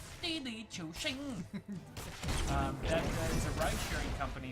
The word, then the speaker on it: Didi Chuxing: But it's all upside down now because there's this company called Xing, which is not how how you pronounce it all. It's Didi Chuxing.